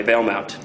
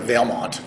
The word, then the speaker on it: Valemount: Mount right Veil Mount well I pronounce it vilmont I think is it Veil oril Mount well it's spelled Mount but I don't think anybody pronounces it Mount M okay okay James